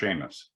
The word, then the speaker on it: Seamus: It's pronounced Seamus.